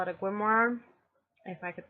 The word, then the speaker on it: Grimoire: I now call it a Grimoire, if I could pronounce that better. Grimoire.